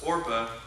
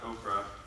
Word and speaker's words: Orpah: bite wives the name of one was orpah not oprah and the other another name